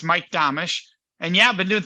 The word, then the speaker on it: Domitrz: look at it so imagine Amish with a D in front of it damish and that's actually how you say it so it's Mike domish and yeah I've been